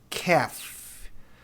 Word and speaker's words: calf: Calf, bezerro. Veja, esse L não é pronunciado.